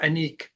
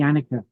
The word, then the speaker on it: Annicke: you have a newcomer, Annicke. Am I pronouncing that correctly? Yeah, I think if you're doing it the Dutch, it's like Annick, but she says just call me Annika, so we call Annika.